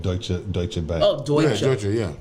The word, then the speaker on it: Deutsche: Oh, Deutsche. Yeah. Right. I used to call it douche.